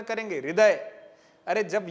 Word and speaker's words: हृदय: जैसे आपने इसको हस्व बोल दिया वैसे इसको आप हृदय बोलेंगे क्या? नहीं बोल पाएंगे। क्यों? क्योंकि यहां तो आप ठीक ठाक उच्चारण करेंगे हृदय।